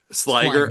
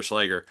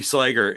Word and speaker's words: Sliger: He got tell me the pronunciation. Sliger. I didn't know if it was Sliger or Schleiger. Yeah. Matthew Sliger is coming on as one of the camera operators.